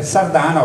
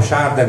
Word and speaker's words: Shardana: i Sardana serden vedete Sardana O sharden O shardano dipende da come lo vuo pronunciare n p y V